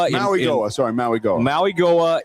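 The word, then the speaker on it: Mauigoa: Mayoa. Mayoa in Maui Goa.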